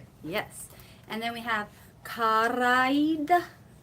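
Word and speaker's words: cara ed: Because it looks like kara, aid, two different words, but the two vowels, the last vowel of kara and the first vowel of aid is elided. The vowels are elided.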